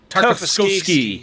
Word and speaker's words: Tartakovsky: I usually stumble with long words more than 2 syllables. Tartakovsky. Tartakovsky.